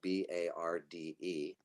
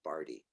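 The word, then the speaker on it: Barde: like it might be barred now that i live in ashland the land of shakespeare it definitely looks like bard but it's actually appropriately rhymes with party because my last name is barty so i like to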